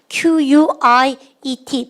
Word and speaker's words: quiet: Q로 시작한 단어 Q-U-I-E-T 발음을 갖다 quiet. 잘죠. 여러분들 Q 다음에는 항상 U가 나서요. 카가 아니라 우 발음 넣으세요.